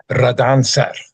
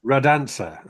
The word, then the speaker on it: Radancer: Do you know how to say it? Radancer. Radancer. Okay. Ah, it's Scottish for the dancer. Okay. Okay. Radancer.